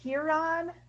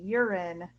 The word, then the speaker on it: Huron: in a town called huron uh which is a hot town uh because people mispronounce it urine on purpose um yeah i live